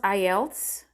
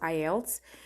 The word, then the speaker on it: IELTS: It's pronounced IELTS. For many of you who are wondering, it's pronounced IELTS.